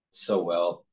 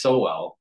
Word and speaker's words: Sowell: Mark lven interviewing soel I thought it was pronounced so well sa I think I think leine pronounces it but Thomas soell and uh also video